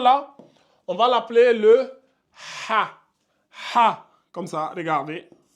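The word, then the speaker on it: حاء: dans la langue arabe le H il se prononce bien il est vocalisé donc on dit vous devez sentir au niveau de la gorge ici ça va donner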